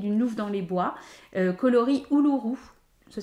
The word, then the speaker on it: Uluru: de chez Ingrid nouof dans les bois coloris ouuru ça s'écrit Uluru euh et c'est en fait c'est